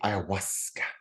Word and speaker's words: ayahuasca: The indigenous tribes, they say ayahuasca. Oh, they say it's smooth, ayahuasca.